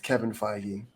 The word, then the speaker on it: Feige: His name rhymes with Fegan Kivey. Who? It's Kevin Feige.